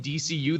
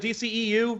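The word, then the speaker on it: DCEU: ECU moniker oh yeah apparently we've been saying DCU this whole time yeah we've been saying it wrong apparently according to them well they were like no that DC EU yeah it doesn't really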